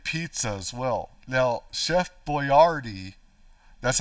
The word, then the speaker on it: Boyardee: Now, Chef Boyardee, that's how you really pronounce it in Italian, Boyardee, not Boyardee, Boyardee.